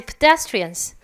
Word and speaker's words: pedestrian: 그러니까 pe도 크게 읽으시면 안 되고 pedestrian. 여기에 강세가 있어서 p 정도만 하세요. 다 같이 pedestrians.